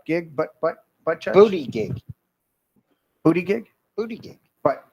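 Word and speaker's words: Buttigieg: partner had a kid Booty Juice you said his name wrong it's booty gig oh he's getting a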